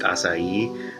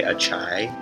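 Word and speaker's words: açaí: like acai bowls but before I knew it was pronounced acai I would say I think I used to say a chai there's only been an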